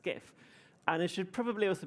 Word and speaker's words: GIF: If I'm going to be controversial here, like GIF, nobody says GIF, that's ridiculous. It's pronounced GIF.